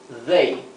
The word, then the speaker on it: they: you made y made fijaos bien la pronunciación de they el ellos they es aquí lo he escrito con dh para para imitar la th inglesa que sería they parecido una d Pero vibrante entonces como siempre vean